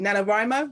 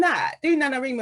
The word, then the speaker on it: NaNoWriMo: And also I did, I can never pronounce it properly, Nanowrimo or Nanowrimo.